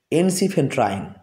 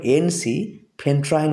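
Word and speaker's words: ensifentrine: জেনে নেম হচ্ছে এন এনসি ফেন্ট্রাইন কেটে কেটে আমাদেরকে উচ্চারণ করতে হবে এনসি ফেন্ট্রাইন বলে একটা ড্রাগ যেটা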